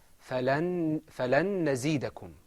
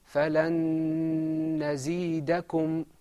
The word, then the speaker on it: فَلَن نَزِيدَكُمْ: In idgham, there's a lengthening of your voice, and I think you can hear it.